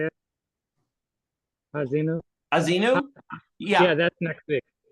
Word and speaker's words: Ha'azinu: Ha'azinu? Azinu? Yeah, that's next week. Yeah. Yes, Parsha. I think you're right. Yes, Hazinu.